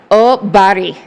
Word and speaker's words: Oberg: way he said it, I think it's Obari. Obari. Something like that.